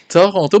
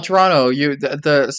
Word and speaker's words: Toronto: Non, Toronto, deuxième T c'est genre un N basically, genre. Yeah. Toronto.